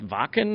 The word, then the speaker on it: Wacken: It's like, it's Wacken. I mean, it's... I've never... You're one of the few that's actually pronounced it correctly.